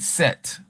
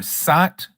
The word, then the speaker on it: Seth: So, they say Seth in English, right? But his his name is actually pronounced either Sat, Sut, or could even have the sound Set. But we know there's no E in Hebrew, but they could have